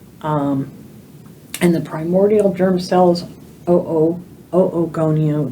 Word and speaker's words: oogonia: So prenatally, these follicles will develop, and the primordial germ cells, oogonia, we pronounce the two O's together, oogonia develop into what we call the primary oocytes.